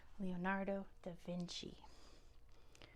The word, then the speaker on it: Leonardo da Vinci: name Leonardo the VIN that c is a CH sound in Italian Leonardo da Vinci um number 15 which